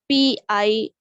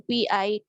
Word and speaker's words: Pitta: Then second dosha is Pit, Pitta, or somewhere it's written Pita. So both way you can write it down. Pitta, Pita or Pitta.